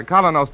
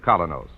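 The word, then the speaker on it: Kolynos: Keene is broadcast to you by Colonos Toothpaste.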